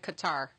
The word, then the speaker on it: Qatar: Well, I asked a reporter from AlGorzeera how to pronounce it, and he said Qatar.